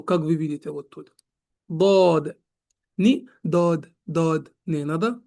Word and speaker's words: ض: И вот сегодняшний урок уже будем проходить буква сод, дод, сод, дод. И будем узнать, как они произносятся, как они читаются и как они пишутся, иншаллах.